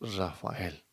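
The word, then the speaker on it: Raphael: Miguel Rafael Martos Sánchez, conocido por todos nosotros como Rafael o Rafael, se escribe Rafael, pero pronunciamos Rafael.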